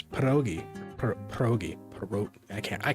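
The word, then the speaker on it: pierogi: Um I think the American population of the Polish people when they moved to the United States just dropped the rolled R and pronounced the rolled R as a D and it became pedogi.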